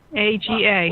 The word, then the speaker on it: Aga: Aga, A-G-A. Well, they say it like haggis, Aga.